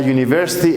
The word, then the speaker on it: university: a bus other a university and a uniform in these two cases the pronunciation is as a consonant University and uniform for